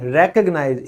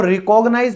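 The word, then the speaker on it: recognize: फिर है पहचाना, यानी रेकग्नाइज। इसको रिकॉग्नाइज मत बोलिएगा, रेकग्नाइज ही इसकी करेक्ट प्रोनाउंसिएशन है।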